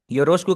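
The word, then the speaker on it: よろしく: यो रोशकु योरोशकु। इसको आपने योरोशिकु नहीं पढ़ना।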